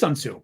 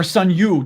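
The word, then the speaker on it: Sun Tzu: me a name sunsu it is sunsu okay okay or sunu depending how you pronounce it I guess yeah in English we think T because it's TSU or TCU um and he had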